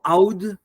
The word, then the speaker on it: oud: Joseph Tawadros, who's a virtuoso of oud or oud in the Arabic pronunciation, and also a contemporary composer.